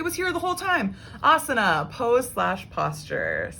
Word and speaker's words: asana: here the whole time asana pose slash posture so a-s-a-n-a and like i said with the rule with the s-h um with the s-h sound on an s obviously here not being used so it's sort of